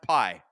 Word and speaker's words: Pi: Oh, it's ra it's pronounced pi.